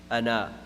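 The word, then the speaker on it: أنا: Ana, but it's pronounced ana. Anywhere in the Quran when a word comes like that just as ana, then it's going to be pronounced ana, na, ana.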